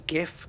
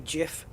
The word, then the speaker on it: GIF: along the lines of you know the people pronouncing gif as gif when it's supposed to be jif that kind of annoyance level is when people